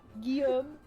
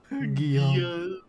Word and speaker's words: Guillaume: Guillaume. Guillaume. That's how they say William in French.